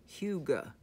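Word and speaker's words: hygge: good food and drinks warm blankets and candlelight pronounced Hyuga and I've actually ran through this through the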